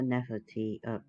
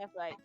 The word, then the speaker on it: Nefertiti: Just think of the gemstone Nephrite, and that's actually how you pronounce her name. It's I just thought it not was spelled that way. Nefertiti. No, it's spelled like Nefertiti, the Egyptian goddess, but no, it's pronounced Nephrite.